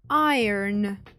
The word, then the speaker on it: iron: Iron залізо будь ласка Зверніть увагу на вимову багато хто вимовляє це слово як Iron але це неправильно британський варіант ir американський Iron Iron Wood деревина Ass скло